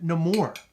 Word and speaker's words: Namor: character Namor or or they they call them no more did you notice that yeah I have never ever heard anybody pronounce the name that way but I think it's because of the like I guess what's the word I'm looking for the heritage of the character you know what I mean so maybe that's why they they worded that or the the way they pronounce it that way but what do you